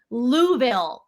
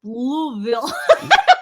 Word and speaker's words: Louisville: two T-shirts one was louville it's pronounced like marbles in your mouth they're like louville yeah that's how they do it l they go louville louville and then I and